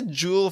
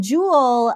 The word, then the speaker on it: Joule: so okay so Jewel that's right how do you say your name properly yes yeah no you got it exact right uh Jewel like a gem foul like wow okay